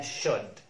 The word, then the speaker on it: should: should أو ينبغي أن ما نقولش should اسمها should.